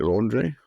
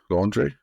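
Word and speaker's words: Laundrie: 23y old fiance Brian laundry is how you pronounce it laundry laundry Brian laundry set off from New York on a four-month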